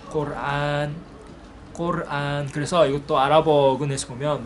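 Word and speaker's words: القرآن: 이것도 사실 영어권 발음에서 온 거예요. 영어에서 이제 뭐 코란, 쿠란 이렇게 하는데요. 사실 아랍어로는 꼬르안이에요. 꼬르안.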